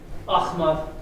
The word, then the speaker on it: Ahmad: Ahmad. Yeah, you got the real throaty, it's not a ch like a soft, it's ch.